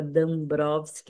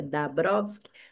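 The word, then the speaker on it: Dąbrowski: Ela que me ensinou que se fala D Browsk, não é da Brovsk, que é assim que se pronuncia em polonesa, ela é de descendência polonesa.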